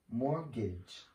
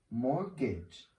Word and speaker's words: mortgage: celebrating Christmas and the last one here is mortgage mortgage market with someone this means maybe you want